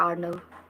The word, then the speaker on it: अर्नव: अर्नव और आर्नव, यहाँ पर जो है ना उसका भी स्पेलिंग यही है, लेकिन उसे प्रोनाउंस ऐसे करते हैं आर्नव।